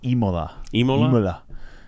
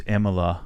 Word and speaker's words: Imola: mad about that it's imola it's a city imola is a city in italy now they're going to tell you it's immola but there's not two m's so it would be imola right if it were